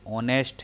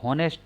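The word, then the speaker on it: honest: ये ऑनेस्ट है, इसको हॉनेस्ट नहीं पढ़ते हैं। अगर आप हॉनेस्ट पढ़ोगे तो व्यंजन से शुरुआत मानी जाएगी, लेकिन इसको पढ़ा क्या जाता है? ऑनेस्ट। इसमें एच साइलेंट हो जाता है, और एच साइलेंट हो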